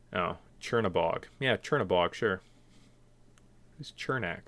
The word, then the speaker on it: Chernabog: Did not pronounce Chernabog. Sure. What did I say? Chernak. Oh, Chernabog.